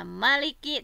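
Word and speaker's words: مَلِكِ: Nah, ini ee alasan kenapa membacanya Maliki tanpa alif. Nah, karena berasal dari kata almulqu. Kalau tadi mah almilqu ya. Yang tadi mah ee dibaca Maliki mah. Kalau ini mah kenapa dibaca ee Maliki pendek ya tanpa alif?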